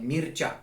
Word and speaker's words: Mircea: So my YouTube channel, that's why it's pronounced like Mircea Gheorghiu.